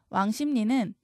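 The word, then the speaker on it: 왕십리: 적어야겠다 그다음 왕심리 있니다 왕심리 기역 비읍 받친 뒤에서 리을이 니은으로 바뀌고이 니은 영향으로 다시 읍이 미음으로 바입니다 음마가 두 번 일어났죠 얘는이 발음을 기준으로 적어 주셔야 돼요 그래서 왕심리 S ni 니 이렇게 적으셔야 합니다 신라 니은이 리을 앞에서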